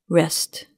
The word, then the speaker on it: wrest: that are homophones, and where one of the words in each pair begins with the silent W. When you hear each pair, see if you can think of the two words that match the sound but are spelled differently.